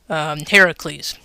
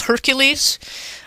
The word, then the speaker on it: Heracles: may know him as hercules um hercules is not the correct pronunciation he's a greek god so he's related to hera so he's heracles and yes that is